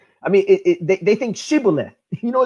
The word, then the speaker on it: Shibboleth: way that is pronounced Shibboleth is Yiddish not realizing Shibboleth is how you actually pronounce it in actual Hebrew and more specifically it's